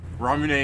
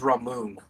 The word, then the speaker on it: ramune: I always thought it was Ramoon. no, it's Ram. ramune.